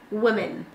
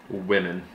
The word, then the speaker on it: women: Women. Women. Women. Whip. Whip. Like cool whip. Whip. Cool whip. And then say whip and then women.